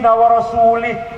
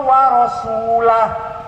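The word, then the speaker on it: وَرَسُولُهُ: Innallaha bari'um minal musyrikin wa rasulih. Allah tidak melindungi orang musyrik dan tidak melindungi Rasulullah. Salah. Bacanya wa rasulah. Innallaha bari'um minal musyrikin wa rasulah. Jangan wa rasulih.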